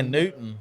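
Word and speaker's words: Newtown: It's at Old 55's um place in New Newton, Indiana or New Town, however you pronounce it. I think they say Newton. I I think they call it Newton, but it's spelled New Town.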